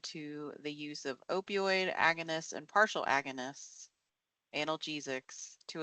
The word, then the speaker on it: agonists: Someone please pronounce that word for me. Agonists? Agonists.